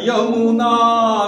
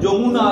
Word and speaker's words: যমুনা: বাংলায় অন্তস্থ জয়ের উচ্চারণ বর্গীয় জ। তাই যেহেতু এটা বাংলা গান, আমরা যখন গাইব তখন আমরা গাইব বিন্ধ্য হিমাচল যমুনা গঙ্গা।